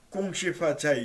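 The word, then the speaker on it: 恭喜发财: 중말 중 발음으로 꿍시파차이 이렇게 얘기하는데, 이 공손하게 기쁘게 기쁜 마음으로 돈을 벌어라, 이제 덕담을 하는 거죠.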